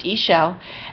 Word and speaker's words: Ixchel: the other cards that came out today were Isel it's it's pronounced Isel and the card is Medicine Woman it says